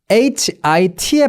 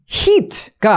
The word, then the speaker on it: hit: 자, 때리다 HIT의 발음은요. hit가 아니라 hit 이렇게 됩니다. 그러니까 우리나라 말로 뭔가 들을 때 이라면 이고 의도 조금 섞여 있는 듯한 느낌이 요 발음 기호 소문자 I의 어떤 그 소리예요.